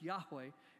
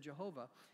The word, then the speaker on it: Yahweh: for that reason but most scholars believe that the best pronunciation of those four consonants in Hebrew uh from Exodus 3:14 is uh is Jehovah I'm sorry is Yahweh instead of Jehovah and that it's the